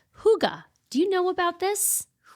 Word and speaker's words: hygge: this Danish concept called huga. Do you know about this? Huga. No, that's a fun word. Yeah, huga. It's actually not pronounced the way it's spelled for Americans.